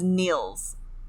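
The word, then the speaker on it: Nils: uh 21 21 uh his name is Neils n i LS but it's it's pronounced like an e so Neil sorry Professor Neils um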